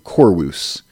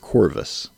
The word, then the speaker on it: Corvus: But we do know that the V shape, like we see the word Corvus there on the screen, that would have been pronounced a little more softly, we think, with the ancient Romans. So they would have said something a little more similar to Corvus instead of Corvus.